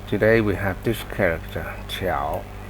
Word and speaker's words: 调: 科调调 Why there's such a difference? Some pronounce it Diao, sometimes pronounce it Qiao. It depends on the context. But most of the time, it's Qiao.